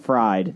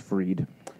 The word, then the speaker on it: Fried: area native Sam bankman fried yeah that doesn't sound like a fishy name in 2019 and based in the Bahamas I think it's actually pronounced freed fried him